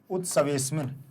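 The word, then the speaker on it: उत्सवेऽस्मिन्: उत्सवे अस्मिन अलग अलग करने पर अस्मिन पढ़ते हैं, लेकिन एक साथ पढ़ेंगे तो उत्सवेस्मिन। आ का उच्चारण पूरा नहीं करेंगे, ध्यान रख लेना। केवल महसूस होना चाहिए कि आ का उच्चारण किया जा रहा है, बाहर नहीं निकलना चाहिए उच्चारण।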